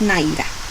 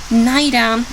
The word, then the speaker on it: neither: the pronunciation we have, it's possible to say neither or neither. Both of them are perfectly correct. Again, what is the difference? Neither refers to the British pronunciation and neither to the American one.